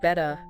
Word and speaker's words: better: So, bettera, better. Yeah. And remember, in standard British English, we don't really pronounce that R sound at the end.